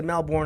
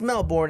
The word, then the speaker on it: Melbourne: And they both were like, oh yeah, we went to Melbourne over the summer, and they told us it's not pronounced Melbourne, it's pronounced Melbourne.